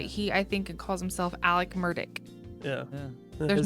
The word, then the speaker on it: Alec Murdaugh: name Alex but he I think calls himself Alec murdick yeah his name is his real name is